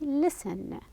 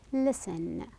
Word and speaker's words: listen: pronunciation then we're having listen the T the T letter in here is silent listen no T sound as